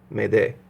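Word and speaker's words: m'aider: if off of the French M apostrophe a-i-d-e-r mede it means help me and it's you know pronounced and that's where the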